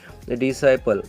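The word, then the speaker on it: disciple: यहाँ पे डिसाइपल, क्योंकि यस के बाद में सी आया तो इस सी को बिल्कुल ही प्रोनाउंस करना नहीं, इस सी को बिल्कुल प्रोनाउंस करना नहीं। डिसाइपल, इसका प्रोनाउंसिएशन होता है डिसाइपल।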